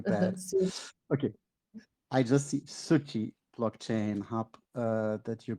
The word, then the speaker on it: Suci: Is it Suki or Suchi? The pronunciation the pronunciation is like suchi which means in language means like cure.